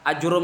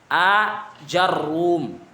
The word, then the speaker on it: آجروم: Ajurum itu ada beberapa pengucapan apa? Ajurum bisa, ajarum. Ini dengan apa? Itsbatul hamzah. Ajurum atau ajarum. Bisa juga dengan hadful hamzah. Hadful hamzah dengan dua harokat di jim tadi. Berarti apa? Jarum, jurum.